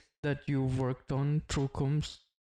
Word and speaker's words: Kumst: Usually wrongly pronounced, but we are getting to it, and this is where it comes from. How can we pronounce it correctly? Just Kumst. KUMST.